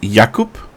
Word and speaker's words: Jakub: So it won't be Jacob then. It'll be Jakub.